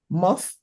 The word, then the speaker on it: moth: Please let's try and see how we can stop pronouncing TH as D or T. So when we have moth or bath, don't let's say moth or bath or something like that.